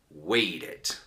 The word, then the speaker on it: waited: When you have verbs that end in T or end in D, you will pronounce it completely. You will pronounce a complete syllable. Need is the verb, for example, need, and then needed. Needed. Did. No need that. No, don't make it a Spanish. English. Needed. And wait, other syllable. Waited.